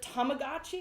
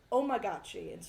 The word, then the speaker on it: Tamagotchi: since fifth grade and instead of Tamagotchi remember Tamagotchi oh yes he would say omagachi oh my God that's